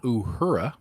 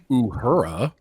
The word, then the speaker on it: Uhura: Obviously, I roll my R's. Yeah. Okay. Let's go try this again. Zoe Saldana, Uhura. Yes, there we go. It just sounds so white when I say it like Uhura. You know that Uhura girl? That's not the way they're going to say it in Africa.